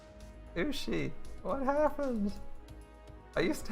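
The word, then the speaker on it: 牛: And it is actually pronounced ushi.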